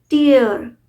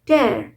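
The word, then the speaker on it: tear: यूज एस a noun करते तो हम इसको प्रोनाउंस करते हैं टियर यर और इसका मीनिंग बहुत कॉमन है आंसू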